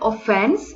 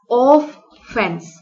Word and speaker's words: offense: give offense if you closely look at the word offense especially its pronunciation some readers may identify it as of fence see the word is offense here and some may misunderstood it of fence oaf of fen ce